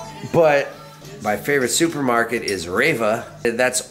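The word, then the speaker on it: REWE: But my favorite supermarket is Reva. That's R-E-W-E, and it sounds like Raver to me. That's how I remember it. Reva.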